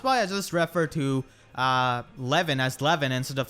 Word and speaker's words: Lewyn: That's why I just refer to Lewyn as Lewyn instead of saying Lewyn like his localized name.